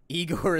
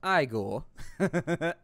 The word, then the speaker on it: Igor: like a third person eigor is claiming the ancient Throne actually it's pronounced igore oh I had never seen